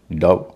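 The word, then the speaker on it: dove: एम और एन होता है तब ओ का उच्चारण अ हो जाता है जैसे एल ओवी ई लव डी ओवी ई डव जी एल ओवी ई ग्लव सीओ एमई कम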